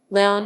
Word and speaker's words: León: leon guanajuato beyond spanish pronunciation laon is the most populous city and municipality in